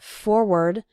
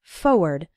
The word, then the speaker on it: forward: Now, some people pronounce it forward, and some people pronounce it more like forward. But when you're writing it, you need to include the R, F-O-R-W-A-R-D. Again, when speaking fast, we sometimes say it like forward, as if there wasn't that first R, but you need to write it with both R's.